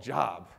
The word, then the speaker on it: Job: I'm not even sure if that's how you pronounce it. Is that right? Who is this job guy?